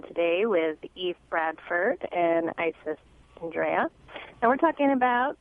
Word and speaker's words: Isis: Am I pronouncing that correctly? Isis?